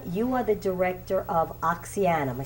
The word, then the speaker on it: Oxyana: Sean, you are the director of OXYANA. Am I saying it right? Yeah, OXYANA.